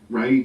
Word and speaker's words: Rei: and myself, and then Ray came on board, and he's from Auckland. And he's a rapper. He mainly sings in Te Reo, but he does a whole wide range of music actually, and so that's spelled REI. And we were supposed to